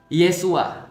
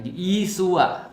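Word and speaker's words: ישוע: Kalau misalnya di dalam Katolik pernah dulu saya diajarkan Yesus itu bahasa Ibraninya adalah Yesua. Nah, Yesua. Nah, jadi Yesua itu ya bahasa Ibrani ya. Kalau dalam bahasa Aramaik, bahasa Aram, itu bacanya Yesu.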